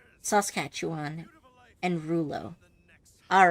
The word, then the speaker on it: Saskatchewan: okay thank you and the other one is pronounced Rulo okay sauce cat chew on Saskatchewan and Rulo all right thank you I appreciate